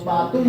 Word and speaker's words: पातुम: तो सही करा देंगे प्रोनाउंसिएशन पतु क्यों बोल रहे हो क्या है पतु? तो पातुम बोलो ना पतु क्यों बोल रहे